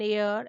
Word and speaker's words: heir: For example, an honest man, an hour, an heir, an honorable man, an honorary member, etc. If we check at the pronunciation of all these words, we notice that H is silent in these words.